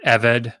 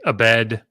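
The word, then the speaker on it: עֶבֶד: in the Hebrew Bible, the word eved for slave, I hear people say abed or aved or avid or any other pronunciations, and it's one of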